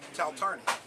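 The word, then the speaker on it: Taltarni: Right, so how do you pronounce this one? Taltarney.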